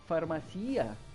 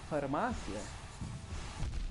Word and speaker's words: farmácia: Like the amount of people that I heard say farmacia instead of farmácia, despite the fact that we fucking have an accent on the A that's supposed to be stressed.